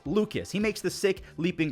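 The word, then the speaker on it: Lukes: It's spelled L-U-K-E-S like Luke's, but it's Lucas.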